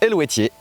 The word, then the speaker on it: Eluveitie: Ouais, ça se prononce Helvétier, et c'est étrusque.